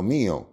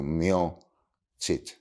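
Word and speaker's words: mio Cid: cantar del mio chit que así lo pronunciaban mio no mío sino mio chit Eh mi señor porque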